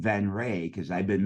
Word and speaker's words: Venrez: always arguing yeah whether it's van Ray or venraz so I don't ever correct anybody it it is pronounced venray it's spelled Veterans for a specific reason but